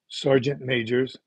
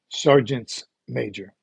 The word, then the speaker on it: sergeant majors: If you're talking about two, it's not sergeant majors. The plural comes in on the sergeant. So two sergeant majors would actually be pronounced sergeant's major.